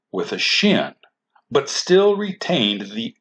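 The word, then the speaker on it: שׁין: If the dot is on the right side, then this letter is pronounced shh and is called the shin.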